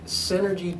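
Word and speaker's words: Senergy: He is the CEO of Synergy Technologies. That's spelled S-E-N-E-R-G-Y, like energy, with the S in front of it.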